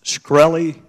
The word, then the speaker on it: Shkreli: Is it pronounced Shkreli? Yes, sir. See, there you can answer some questions.